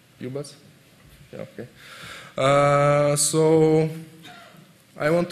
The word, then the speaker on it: ubus: It's right pronunciation, UBUS.